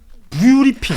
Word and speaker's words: 뷰리핑: 뷰 어 뷰리핑 아 이게 참 어려워. 뷰 리핑 아 브리핑이 아니라 뷰리핑 뷰가 있는 브리핑이다 아 관점이 있는 브리핑이다라는 취지에이 일단 네이밍에서 실패한